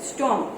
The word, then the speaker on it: storm: और देन है number 6 STORM स्टॉर्म, तो स्टॉर्म में भी R साइलेंट है, नहीं सुनाई देता।